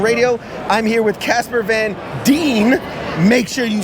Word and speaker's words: Van Dien: and WTF Nation radio I'm here with Casper Van Dean make sure you say it correctly uh famous